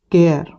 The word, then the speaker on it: cheir: याद रखिए pronunciation कायरो होगा इसका इंग्लिश में, ठीक है।